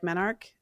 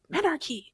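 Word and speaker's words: menarche: So like menarch um someone in my comments was like it's menarchy. You're saying it wrong. I don't know. Whatever you like. Menarch or menarchy. I used to say menarchy actually and then I started saying menarch.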